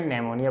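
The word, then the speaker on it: pneumonia: अब देखें इसको हमने नेमोनिया पढ़ा और इसको कोप नहीं पढ़ना, को पी साइलेंट है।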